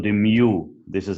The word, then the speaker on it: mu: from the sample this one it's called the mu this is how you pronounce it guys it's the mean from the